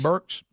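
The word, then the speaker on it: Birx: thing that that Dr is it bricks is how you say your name Burks Burks yeah that's right it's b r KS but she spells it b r iix she was referring to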